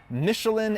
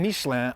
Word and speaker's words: Michelin: though I will be switching between the French and American pronunciations for the purposes of rhetoric and humor. Michelin and Michelin are the same company.